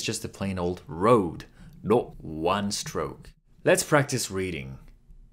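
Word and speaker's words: の: and a few angles pronounced like a combination of row in row Code and low in load in British English it's more like Row in rot or low in long no again just repeat after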